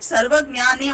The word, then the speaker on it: Sarvajnane: So ma'am, it's sarvajnan only. Sorry. It's there is no te, right? Sarvajnane only. That's the right pronunciation.